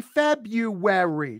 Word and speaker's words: February: No, it's the February. It's a W. This is to a legal core. February. That's a W.